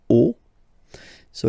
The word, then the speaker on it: os: here at the end, but then same rule, you don't pronounce it.